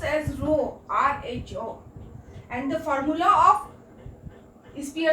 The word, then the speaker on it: rho: Rank means rank, R means rank correlation and S means Spearman, or write as P which is pronounced as rho, RHO, and the formula of Spearman rank difference